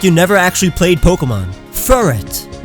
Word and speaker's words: Furret: Furret, not ferret. We don't call Pidgey pigeon, so don't call Furret ferret.